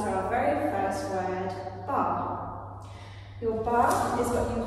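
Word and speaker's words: barre: So that takes us to our very first word, bar.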